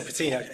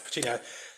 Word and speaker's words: Pecini: Have I butchered it? No, I think, Elisa Pecini, yeah. Elisa Pecini, yes, Pecini.